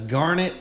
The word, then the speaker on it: Garnett: it's Garnett like darn it. Okay. That's what they've always said. Okay. I think Tut says Garnett like the stone, but it's not even spelled the same.